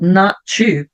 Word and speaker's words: not: um sonzinho T fraquinho Lembrando que a letter t a letra t em english tem três formas da gente pronunciar ou ele vai ficar ou ele vai ficar mudo ou ele vai ficar aquele sonzinho do R então mudo quando tem uma consoante que segue vai ficar um som de quando tem uma vogal que segue daí já vai emendar com a vogal vai ficar bem fraquinho então eu não vou